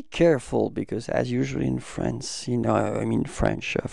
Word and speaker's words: franc: So masculine form is franc. So you don't pronounce the final C, okay?